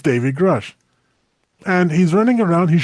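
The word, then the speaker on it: Grusch: Do I pronounce his blooming name? Grush. Yeah. David Grush. Yeah. That's right.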